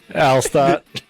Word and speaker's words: Alstott: how do you say it your brother yeah I'll stop Rudy rudiger yeah that's mother Joliet like all